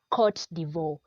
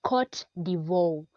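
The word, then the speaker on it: Côte d'Ivoire: we have yeah right we have courts de veau it's caught de veau cut de veau cut Devore is also called Ivory Coast number two can you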